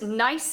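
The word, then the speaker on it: gneiss: there and then there's nice again with the silent g also referred to as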